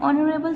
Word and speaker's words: honorable: Yusuf is an honorable citizen. Here again H is mute and silent, so this word is starting with vowel sound.